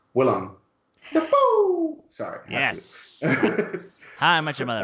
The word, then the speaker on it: Willem Dafoe: the phone Oh also I forgot to pronounce it correctly it's Willem Dafoe sorry yes hi mekka